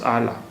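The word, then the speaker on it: اعلیٰ: It is not Ali, it is Ala.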